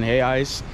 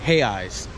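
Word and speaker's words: reais: brazilian currency is in hay ice it's spelled r-r-e-i-s but in portuguese you don't pronounce the r so you say it like hey eyes the r sound like an h so hay eyes is like um one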